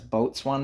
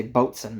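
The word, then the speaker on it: boatswain: And with the Navy, it's referred to as boat swan mate or as Tanner likes to always say, boats and mate. Trying to get me to say it like that even though it's spelled boat swan mate.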